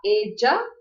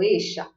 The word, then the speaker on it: ella: Eu vou falar ella ou eixa. Eu pronuncio as duas como I, tanto o Y como o 2 L's.